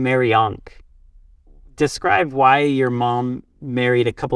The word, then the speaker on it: Mariank: So, she mashed up the Egyptian. It's like the popular pop culture Egyptian symbol with it's like a cross with a loop at the top, quite popular. It's spelled. She lopped the H off and she mashed it up with the name Mariana. So Mariana, Mariank.